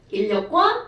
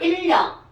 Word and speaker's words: 인력: 자 발음은 인력이라고 합니다. 인력. 자 그러니까 이제부터 너네들은 인력과 청력을 알고 있어야 된다는 거죠. 됐어요? 아하 시연아 인력 무슨 힘이라고요?